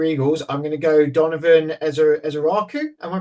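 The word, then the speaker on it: Donovan Ezeiruaku: And then for the final pick 32 for the Philadelphia Eagles, I'm going to go Donovan Ezeraku. Am I pronouncing that correctly?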